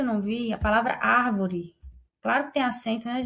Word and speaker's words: árvore: não vi, a palavra árvore. Claro que tem acento, né, gente? Olha a árvore. Olha a árvore. A sua antepenúltima sílaba é a mais forte, então é uma proparoxítona, e todas as proparoxítonas serão acentuadas.